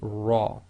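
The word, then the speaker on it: ر: So when the Ra itself carries a Fatha, it will be pronounced as tafkhim, i.e. heavy, full mouth, i.e. lifting up the posterior of the tongue, making your mouth more full, the lips go slightly round, so this will be Ra.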